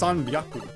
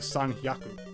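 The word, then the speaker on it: 三百: But then 300 is kind of weird because it's sanbyaku instead of sanhyaku.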